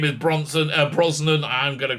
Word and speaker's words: Brosnan: me because i always chris pierce brock brosnan not bronson i like bronson better